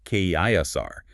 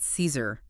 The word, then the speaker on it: Caesar: Gaius Julius Caesar, In classical Latin, the pronunciation would have been something closer to Gaulius Caesar, that hard C or K sound, and the A diphthong like I. Not Caesar. No, that's the later ecclesiastical Latin or English pronunciation.